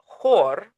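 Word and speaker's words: хор: In Russian and Ukrainian, though, the word whore, like spelled exactly like this, pronounced, sorry, exactly like this, means choir.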